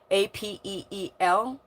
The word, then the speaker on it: Apeel: Shill Bates, rhymes with, and the, the company Appealing, but there's no ing, Apeel.